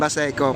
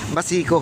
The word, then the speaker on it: Baseco: Kasi yun naman talaga tawag dyan, Baseco. Pero ako naman Bisaya naman minsan, Basico, no?